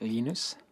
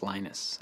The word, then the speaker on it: Linus: I speak Swedish it's lenus when I speak Finnish it's lenus when I speak English it's lonus and I really don't care how people pronounce my name but Linux is always